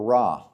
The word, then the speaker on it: Ra: The first god I want to talk about is Rey, pronounced Rey or Rah.